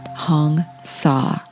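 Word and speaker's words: Hong Sau: in this case but it's pronounced like the word saw s-a-w hong saw so as you're guided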